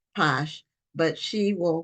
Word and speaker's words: Pache: and I believe her last name is pronounced Posh but she will correct